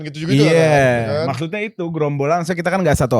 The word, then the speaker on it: Geromball: Gerombol aja. Jadi Grombol ya?